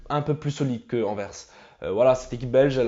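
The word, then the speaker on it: Anvers: euh la dernière vidéo j'avais dit je prononcais ça verpe et j'ai dit les gars je suis pas belelle je sais pas comment ça se prononce et je m'en souviens un abonné m'a écrit ça se prononce enverse donc maintenant je le prononce enverse voilà les gars merci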